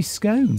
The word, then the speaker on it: scone: But there's an E on the end, like in bone. So it should be scone.